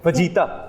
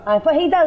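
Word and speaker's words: fajitas: तो यानी हम ये भी गलत बोलते हैं आज तक, फजीता। फहीदास होता है, जे इज साइलेंट।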